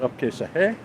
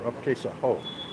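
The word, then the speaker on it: आप कैसे हो: It can be pronounced Apkesahe or Apkesaho. I think ho, because I hear ho more here in New Delhi than the he. So I guess it's more of a local dialect.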